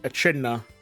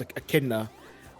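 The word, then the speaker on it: echidna: I used to you know call him like Aida you know like to pronounce like the the CH but no it's a kidna I like a k like like oh like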